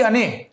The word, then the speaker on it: अणे: वो अन्य ANNEY नहीं है, अने हैं, अने ANEY।